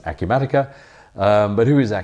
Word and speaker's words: Acumatica: a Q Medicare is or even how to say the word so we discovered it's a Q matica but who is a